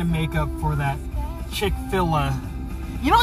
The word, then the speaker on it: Chick-fil-A: So they didn't want to spell it Chick-fil-A, like filet, F-I-L-E-T, you know, like a hon, the French. And so they named it, they spelled it F-I-L-A, so it's Chick-fil-A.